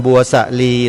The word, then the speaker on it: บัวสลี: ว่า บัวสลี นะ โยม แต่ ถ้า เป็น ภาษา ไทย เนี่ย อ่า หลัก ของ การ ออก เสียง ที่ มี อักษร นำ เช่น นี้ ต้อง อ่าน ออก เสียง สูง ตาม ตัว อักษร นำ นะ ครับ สลี บัว